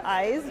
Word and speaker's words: Ayzh: Sure, so my name is and I run a company called Ayz, which is spelled AYZH.